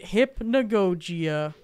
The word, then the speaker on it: Hypnagogia: And you pronounce it Hypnagogia.